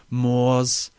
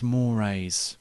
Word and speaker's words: moors: waste with your provincial moors and your ford focus and can i have a lift to the pub please he said firstly it's pronounced more and secondly no i